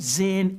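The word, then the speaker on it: Zinn: oh and let me not forget the howard zen education project that that because what they've done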